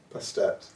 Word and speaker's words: Bastet: You know Egypt pronunciation Bastet. Bastet.